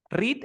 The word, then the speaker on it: read: Read es el pasado del verbo read. Read es irregular. Lo que cambia es la pronunciación.